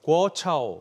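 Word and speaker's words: 国潮: 궈차오, 우리말로 발음을 하면 이제 국조인데 이 애국 소비 열풍을 뜻하는 단어죠.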